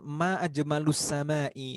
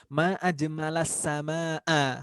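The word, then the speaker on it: ما أجمل السماء: Tapi tadi redaksinya, cara membacanya itu salah harokat. Ma ajmalus sama'i. Harusnya ma ajmalas sama'a.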